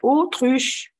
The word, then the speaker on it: autruche: ودايما يا جينيو 3 لما نلاقي A وراها U تتنطق O. الـ A لما يجي وراها U في الفرنسي من انتهى O يبقى اسمها une autruche.